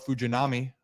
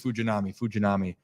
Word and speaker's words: Fujinami: Shintaro Fujinami. Hopefully, that is fact checked to be the correct pronunciation. I worked on that a lot tonight, actually, on the pregame for 105.7, and I think it's Fujinami.